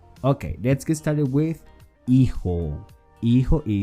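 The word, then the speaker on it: hijo: a new word okay let's get started with iho is spelled h-i-j-o remember that in spanish j is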